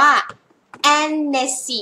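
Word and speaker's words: Hennessy: คน อ่าน อัน นี้ อ่าน ว่า แนสซี่ แี่ นะ คะ เสียง แอะ ๆ แิ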